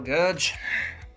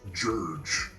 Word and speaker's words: Gurg: Very well, Gurge. It's actually pronounced Jurge.